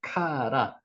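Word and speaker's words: קרא: 카라, 이 단어가 카라입니다. 부르다, 선포하다는 뜻도 있습니다. 부르다는 뜻만 아니라 선언하다, 반포하다, 축하하다. 이게 카라입니다. 카라.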